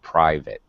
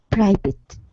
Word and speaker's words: private: thing here julia um the eye in private is a long i sound private private yeah i know that's different the root word i realize this is different in other root languages it is not a long i but in english it's i private okay and very good